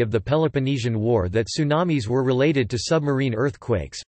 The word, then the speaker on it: tsunami: dropping the t, since English does not natively permit ts at the beginning of words, though the original Japanese pronunciation is ts. Tidal wave. Tsunamis are sometimes referred to as tidal waves.